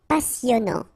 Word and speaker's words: passionnant: Okay, here you pronounce the double S because you get a vowel, so it's really a strong one. Passionnant. Final T not pronounced, and then here you get this en sound.